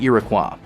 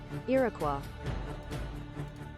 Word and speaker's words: Iroquois: was transferred to the Iroquois a halberd class light Destroyer to serve as commanding officer yes that is how you say it Iroquois Iroquois and finally the most